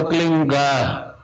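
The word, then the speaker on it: क्लीं: होता है एक शब्द क्लीन शब्द क्या आधा ला में मिला हुआ बड़ी की मात्रा और बिंदी, उसका उच्चारण होगा क्लीन गा। गा की ध्वनि निकलेगी पीछे।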